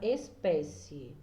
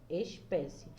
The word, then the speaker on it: espécie: Eu trouxe um exemplo da palavra espécie. Ó, espécie. Eu já sei que a palavra mais forte é pé.